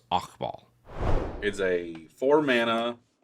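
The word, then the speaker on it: Hakbal: the deck is pronounced okball so it's the H isn't actually pronounced or it's very soft so it's okball is a four Mana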